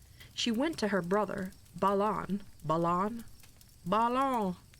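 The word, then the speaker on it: Balan: She went to her brother Balon. Balon. Balon. Not Balon. Bruge. Her brother Balon. B. It's Allen but with a B.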